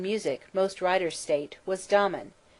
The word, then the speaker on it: Damon: His teacher in music, most writers state, was Damon, whose name they say should be pronounced with the first syllable short, but Aristotle said he had a thorough musical training at the hands of Pythides.